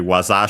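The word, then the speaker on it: 技: Actually, waza should be, so accent on the last syllable.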